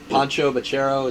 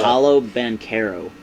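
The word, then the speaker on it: Paolo Banchero: number 2, and then Pancho Bachero, is that how you say his name? The guy Pancho. How do you say his name? I have no It's, idea. Paulo Banchero.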